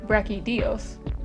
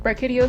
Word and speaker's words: Brachydios: just beating Brett caudillos yes I know it's pronounced rocky Dios but I've been calling it Breck Hideo since 3 ultimate it takes me about on